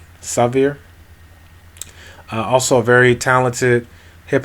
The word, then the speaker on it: Savere: It's spelled Savere, Severe.